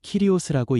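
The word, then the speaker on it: κύριος: 여기서 주라는 말은 헬라어로 키리오스라고 읽습니다.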